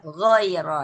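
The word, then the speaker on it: غير: Padahal ketika mengucapkan gin tadi sudah bagus giro giro ya. ghair ya gho gho seperti itu g fabaddalalladzinaamu minhum quulan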